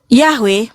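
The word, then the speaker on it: Yahweh: Yahwe merupakan konsensus penelitian modern dan akademis untuk pengucapan yang paling mendekati bahasa Ibraninya atau aslinya ya.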